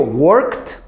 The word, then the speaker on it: worked: Work suena la K. Pero cuando digo worked, ya suena la T.